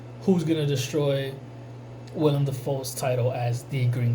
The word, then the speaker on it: Willem: I like how they were utilized, you know, Willem Dafoe, when I know I heard an interview where he says William. So I don't know, I say Willem because that's how it's spelled.